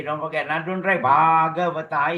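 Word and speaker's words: Bhagavatā: Now don't write Bhagavata. It's Bhagavata. BH is an aspirated B, we call it. So you must pronounce it bah.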